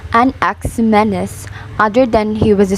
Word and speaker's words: Anaximenes: of its life of a nexuminus pronounced an ax menace other than he was